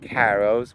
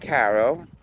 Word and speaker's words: Caro: everybody knows that Mike Caro probably got it from his father and his grandfather. He reminds everybody that the way to pronounce his last name is it rhymes with the word arrow.